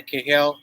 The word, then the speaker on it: Cahill: And the Cahill, is that how you pronounce it? Yeah, the Cahill and Claude mystery. Yeah, Cahill.